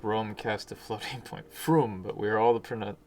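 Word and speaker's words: Frome: follow it's not pronounced from it's just rome with an f in front of it oops um there wrong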